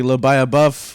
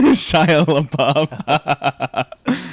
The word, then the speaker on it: Shia LaBeouf: It's like Lobaya Buff, Lobaya who? I said his name wrong. Shia LaBeouf.